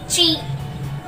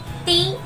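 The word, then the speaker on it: ち: Ta, chi, tsu, te, to. In this also, these two are exceptions. Ta, ti नहीं होगा, ये होगा chi. Chi, ti नहीं होगा, ये होगा chi.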